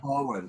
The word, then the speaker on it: Pohland: of your last name it's like pollen so it's like falling in the air with the d at the end so pollen okay good i i